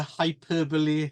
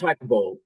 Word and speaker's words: hyperbole: Hyperbole himself. It's pronounced hyperbole, Clive.